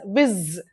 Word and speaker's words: vis: The root is vis, which is pronounced as viz.